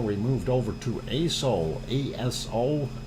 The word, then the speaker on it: Aso: ASO is how it is spelled. So do not mispronounce it.